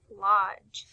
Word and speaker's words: lodge: in the word logge it's spelled l o d g e but when you say the word LOD you hear J at the end as we read through